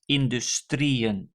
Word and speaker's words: industrieën: So for instance, industry, that is industrie, and plural is industrieën. So the emphasis is on the final syllable of this word, industrie, and that means I have to place the en and a double dot on the last E.